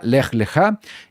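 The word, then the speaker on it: לך לך: Es la parashá número 3 y el nombre es la parashá Lech Lechá. Importante, así es como se pronuncia en la fonética, Lech Lechá.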